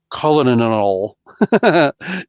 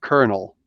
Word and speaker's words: colonel: that alone should explain why words like colonel, colonel, actually exist. Why we pronounce it one way but spell it another.